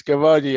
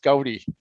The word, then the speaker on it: Kavadi: Um but our f ourse four festivals Mahashirati Ganesh Chhati although we've always pronounced as Kavadi I find out very very recently it's actually pronounced Kawi in in South India and Diwali that most of us understand.